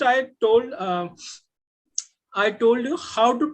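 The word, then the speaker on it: hao: right like the word h plus a u this is pronounced as how this is pronounced is how this is initial this is final when we put them together the pronunciation is how but individually the pronunciation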